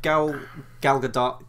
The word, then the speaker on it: Gal Gadot: I'm wondering if Gal Gadot can, and I actually know that's how you pronounce her name now, because I watched an